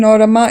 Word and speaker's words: Orama: And yes, it is pronounced Orama in Greek.